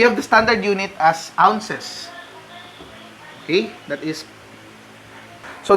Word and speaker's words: ounce: Now, for the English system, we have the standard unit as ounces. Okay, that is. So, the unit of measure is OZ, and that is pronounced as ounce.